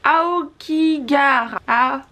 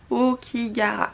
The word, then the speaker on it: Aokigahara: Attention, prononciation. La forêt de Aokigahara. Aokigahara, voilà.